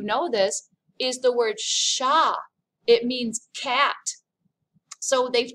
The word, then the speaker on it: chat: some of you know this is the word sha it means cat so they've taken our english